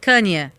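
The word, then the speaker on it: Kanye: Como é que você pronuncia o nome dele? Ah, você veio perguntar para mim, tá? OK. Hã? Kenia. Isso. Cânia.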